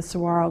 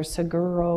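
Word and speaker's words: saguaro: absolutely beautiful with the sarro cacti and I totally mispronounced them when we first moved there. Siguro or something and the mover said, "Lady, you're going to have to get this right at Sarro."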